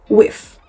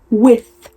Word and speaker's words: with: And he kept pronouncing it like with, as in like he was biting his lips. I was like, okay, let me say his name is Sam. I was like, Sam, bite your tongue with.